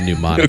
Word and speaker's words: mnemonic: A mnemonic. Okay. I think drop mnemonics on fools. It's spelt like it shouldn't be anything. It's MNEMONIC. Mnemonic.